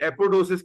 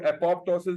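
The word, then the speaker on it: apoptosis: उस प्रोसेस को को हम एपोस कहते हैं इसमें एक पीस साइलेंट है एपोस कहते हैं और बाज लोग अपॉप्टोसिस भी प्रोनाउंस कर लेते हैं इसको तो दिस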